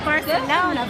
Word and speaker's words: Barcelona: I'm going to Barcelona. Barcelona. I know how you say it. Barcelona. Barcelona. Not Barcelona. It's Barcelona. You don't have to. Barcelona. It depends if you're saying it in Spanish or Yes. Catalan.